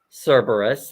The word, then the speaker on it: Cerberus: So Amy from Strength Reverse made it in, and she is correcting me on my pronunciation. Um, Oh, Cerberus.